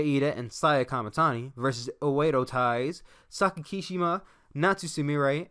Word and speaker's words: Oedo: I've been saying Odio Tai for the longest time, and no one's ever corrected me, but I've always thought it was spelled O-D-E-O, but now I realize it's spelled O-E-D-O, so it's technically Oedo.